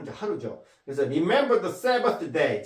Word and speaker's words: Sabbath: Sabbath. 이건 선생님이 음가 만든 거예요. 음가를. 왜냐하면 th 발음은 이 번데기 발음 있죠?